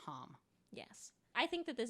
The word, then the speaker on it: ham: And the Bija mantra is hum. Spelled like ham. Spelled like ham. But it's hum.